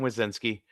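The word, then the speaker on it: Wesneski: talk Hayden wizinsky uh hopefully I'm pronouncing his name right it's a it's a you got it you got itki I feel like um you know it's like Monsters Inc and it's Michael wizowski yes sir so uh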